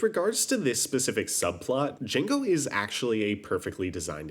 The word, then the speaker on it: Django: This mainly gets explored via the conflict with Remy's father, Django. The D is silent.